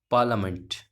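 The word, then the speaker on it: parliament: ये क्या है साथियों, ये क्या है, इसमें आई जो है वो साइलेंट रहेगा, इसका मतलब आई साइलेंट रहेगा, तो ये क्या हो जाएगा आपका, पार्लियामेंट। क्या हो जाएगा आपका, पार्लियामेंट। आर भी साइलेंट रहेगा, आर से पहले ए आ रहा है, तो हम तो इसको पार्लियामेंट बोलें तब तक मज़ा नहीं आता, लेकिन होता है ये पार्लियामेंट होता है।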